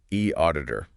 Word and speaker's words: eAuditor: And the other looks at a specific platform called E Auditor Audits and Inspections that's pronounced E Auditor.